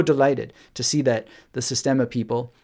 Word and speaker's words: Systema: to see that the Systema people or a Sistema as I like to try and pronounce it in Russian have liked Vladimir Vasilyev